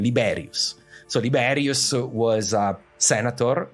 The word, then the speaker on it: Liberius: uh Odo aser uh famous liberus no liberus sorry if I let's use the Latin pronunciation liberius so liberius was a